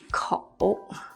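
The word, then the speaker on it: 口: you seen this before this by itself is pronounced as KO call Ko means mouth or opening for example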